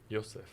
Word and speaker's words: Youssef: Eu falei que eu chamei ele de Youssef, ele disse que era Youssef, né? Youssef. Ah, é Youssef. Então, ele está pronunciando certo.